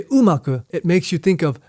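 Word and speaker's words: 馬: Now this is the character for horse, and it's pronounced uma.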